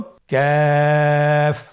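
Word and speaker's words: ك: আবার বলুন কাফ। কাফের মাখরাজ আমরা স্ক্রিনে দেখতে পাচ্ছি। কাফের মাখরাজ হলো জিহ্বার গোড়া থেকে একটু আগে বাড়িয়ে তার বরাবর উপরে তালির সঙ্গে লাগিয়ে উচ্চারিত হয়।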